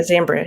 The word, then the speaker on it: Zambria: Zambria. Yeah, Zambria.